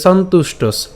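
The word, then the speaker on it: সন্তুষ্টঃ: এরপর চ সন্তুষ্টস, এখানে একটু খেয়াল করি, চ সন্তুষ্টস, এখানে উচ্চারণ যেটা করছি সন উচ্চারণ করলাম, এবার ত রস্যকারটা উচ্চারণ করছি, তাহলে তু, এবং এই যে মূর্ধন্যস্ব যুক্ত ট উচ্চারণ করে তার সাথে এই যে এখানে যে দন্তস্ব আছে, এই দন্তস্বকে আমরা নিয়ে আসলাম, তাহলে সন্তুষ্টস, ঠিক আছে?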